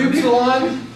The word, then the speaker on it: upsilon: look at the next word, upsilon. This table suggests that the letter's pronounced like U, like in put, but the preferred pronunciation is actually like the German U, as in root, or the French.